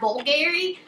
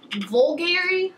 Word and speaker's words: Bulgari: I picked up is this perfume it's by Bulgari vulgari I'm pretty sure that's how you pronounce it um and it's called the Omnia